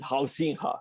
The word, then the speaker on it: Huizinga: for me at least, is the Dutch Johan Huizinga. It's written Huizinga, but they pronounce it Huizinga, something like that.